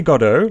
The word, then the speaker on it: Godot: did i not say did i not say godo like waiting for godot i've always thought that was the pronunciation but i i feel